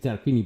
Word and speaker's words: Tarquini: We say Tarquini, but I'll spell it out.